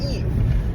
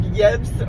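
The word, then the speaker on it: Yves: everybody calls him like Yebs or whatever. The S is silent. His name sounds like the girl's name Eve.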